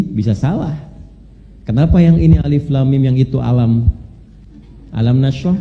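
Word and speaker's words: الم: benar Tahu dari mana bacanya Alif Lam Mim bukan alam karena dengar kan Nah orang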